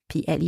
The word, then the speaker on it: plus: the word so again my letter s from the word p l s PL is still silent I am not pronouncing this s but now I'm adding the sound z z for zebra in between the two words so list all right